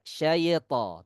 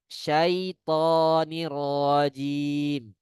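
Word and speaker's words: الشيطان الرجيم: Tapi tidak ada kolkolah di huruf iya. Ya, kita tahu qalqalah itu ada di 5 huruf saja, ya. Baju di toko. Bi, ba, jim, ya, dal, to, huruf to. Huruf iya tidak memiliki qalqalah. Tidak ada syaito, tidak ada. Yang benarnya syaitonirrajim, ya.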